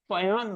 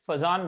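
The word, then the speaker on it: Fajans: फजान rule, actually the pronunciation is Fayan rule, but in India we call it Fazan rule. It is not pronounced as Fazan, it is Fayan.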